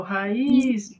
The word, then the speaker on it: raiz: Vamos lá, na raiz, qual é a sílaba tônica? O raiz, Luiz. É o is.